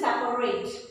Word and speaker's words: separate: Next pronunciation में सेपरेट हम लोग सेपरेट, हमें प्रॉ नहीं बोलना, हमें पॉ बोलना है.